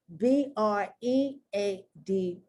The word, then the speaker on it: bread: e with e a b r e a d that's not breed breed that e a becomes much more closer to a short e sound a bread head also